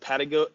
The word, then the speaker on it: pedagogy: You said pedagogy.